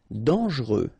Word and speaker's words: dangereux: Dangereux. Final X not pronounced, and then don't really pronounce this E here.